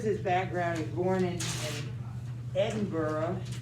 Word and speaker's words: Edinburgh: He's born in Edinburgh. That's how they say it. We might say Edinburgh, but they say Edinburgh, Scotland.